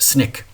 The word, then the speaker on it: SNCC: Student Nonviolent Coordinating Committee or SNCC and it's often pronounced Snick and this is organized